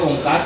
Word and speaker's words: ओम: लिया है ओंकार के ओमकार के हिल आते हैं आधा बहरी आधा भीतरी ओम ये सही उच्चारण ये सही उच्चारण ओम